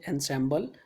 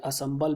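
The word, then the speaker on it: ensemble: जो एनसेम्बल लिखा है इसको हम प्रोनाउंस कहते हैं एनसेम्बल या असम्बल भी कहा जाता है, यहाँ पर लिखा होगा कहीं ना कहीं ऑनसम्बल भी कहा जाता है।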